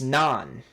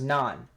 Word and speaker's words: Nantes: that it's actually pronounced it's actually pronounced nun it's pronounced nun you guys going to